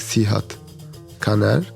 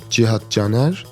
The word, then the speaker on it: Cihad Caner: Like when they see like the letter C, they call me like Cihad Caner. But in Turkish, we use like C to pronounce like G. So it is, the true pronunciation is like Cihad Caner.